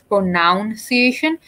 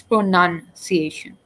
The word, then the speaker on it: pronunciation: You would think it's pronounced as pronunciation, but it's not. It's pronunciation.